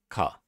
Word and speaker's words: か: up a single syllable you pronounce it you pronounce this as car so it's kind of